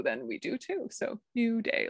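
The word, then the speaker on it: Naivedye: harder one is yeah new day which is nothing like how it's spelled dave's asking about the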